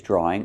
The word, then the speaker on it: drawing: Example, the boy is drawing a picture. Picture. And let's look at the pronunciation of drawing. This is a hard one. Drawing. There's no drawing, there's no w. Just link the sounds.